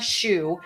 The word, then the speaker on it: Schuh: And then my last name, even though it sounds like the one on your foot, is SCHUH.